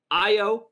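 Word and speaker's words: Ayo: numbers ricky your boy io nope yeah i o i o you said it i got every time i break it's an a but it's pronounced an i i o de sumu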